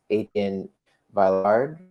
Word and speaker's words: Etienne Villard: The pronunciation is Etienne Villard.